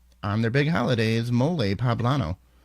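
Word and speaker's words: mole poblano: their big holiday is moley poblano pronounced with an emphasis on the second syllable like guacamole so Bob I know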